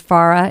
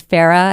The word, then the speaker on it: FARA: thank you Brandon and thank you for pronouncing Farah correctly one of my pet peeves is Farah it is Farah and that goes back